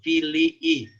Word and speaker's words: Filii: In nomine Patris et Filii, ya una recomendación, en latín se pronuncian todas las vocales, ¿no? Y por separado, Filii, aquí hay doble I, et Spiritus Sancti, amén, ¿no?